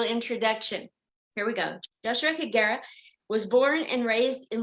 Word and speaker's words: Higuera: my whole the E is silent, but you're supposed to say it with an E, but I sound stupid when I say it. So I just say Higuera. It's Higuera.